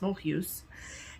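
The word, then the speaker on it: Mulhouse: Then we took a bus to the town of Mohu. Mhm. Looks like Mole House in English, but it's pronounced Mous.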